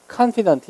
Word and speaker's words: confident: 얘는 강세 이름절 confident. 얘는 뒤에 than의 강세 있어요.